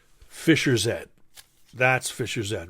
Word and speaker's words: Fischer-Z: I was calling him Fisher Z because I didn't realize that you know the the British pronounced Zed instead of Z so I was always